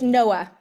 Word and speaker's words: Noa: his name or her name her name it's Noah Noah I want that was my instinct Noah